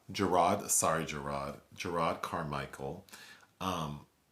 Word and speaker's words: Jerrod: the standup comedy special of Jared carmichel it's pronounced gerro gerro sorry gerro gerro carmichel um and people wanting